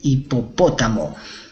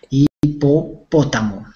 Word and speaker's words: hipopótamo: hipopótamo perfecto Grace el hipopótamo con tilde pótamo con tilde en la en la po en la segunda po en la tercera sílaba hipopótamo podrían repetir a ver